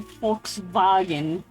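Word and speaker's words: Volkswagen: This is kind of wrong because you pronounce the the V O N as phone because in German the V's become Fs. That's why it's called a folks vagen. Folks, you know, folk folks people vagab.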